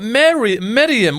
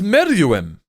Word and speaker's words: Meruem: Bro, his name's not Miriam. What is he, my auntie? No, does anybody else? Is that actually how his name's pronounced? I thought it was Meruem. Meruem. Bro, this guy just said Miriam.